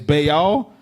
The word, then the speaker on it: Baal: That's why we made such a heavy topic to pronounce Baal as Baal, because that's what they're worshiping.